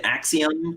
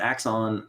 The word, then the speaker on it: Axon Punk: no no no no you're saying it right yeah axon excellent yeah yeah we get axiom a lot we don't have the i in it but uh but axon um i do the